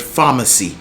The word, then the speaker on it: pharmacy: So let's say the word pharmacy, pharmacy. So the phonetic is going to be F-A-R, something like that. So they're going to spell it exactly how it's pronounced, not P-H. So the real spelling is P-H, but the phonetics will be F something, okay?